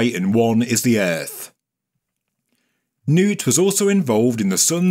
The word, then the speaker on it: Nut: But there is one suggestion that it is in fact a celestial manifestation of the sky goddess Nut, which I believe is pronounced Nut.